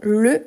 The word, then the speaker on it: le: La différence surtout de prononciation entre ces deux-là, c'est parce qu'ici c'est bien fermé, le. Ici c'est ouvert, les. Le, les.